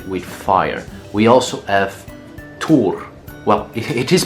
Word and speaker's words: Thor: Thor Well, it is pronounced Tur/Tor but I'll just say it "Thor" well, Thor is, of